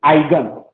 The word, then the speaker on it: eigen: to कहाँ पे EIGEN, आइगन, ई लिखता है स्टार्टिंग में लेकिन छुप जाता है, उच्चारण क्या बोलते हैं, आइगन। कोई ईगन बोलेगा, कोई आइगन बोलेगा, कुछ आइगन, ठीक है ना।